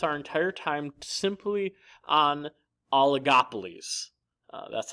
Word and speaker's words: oligopolies: going to focus our entire time simply on oligopolies that's how you pronounce it by the way in case you're wondering oligopolies an oligopoly contains only a few firms products